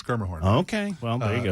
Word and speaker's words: Schermerhorn: Musica or the Schermerhorn that I can never pronounce or whatnot. Schermerhorn, by the way. It's Schermerhorn, by the way. Schermerhorn? It's Schermerhorn.